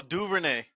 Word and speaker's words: Duvernay: Oh, Duvernay.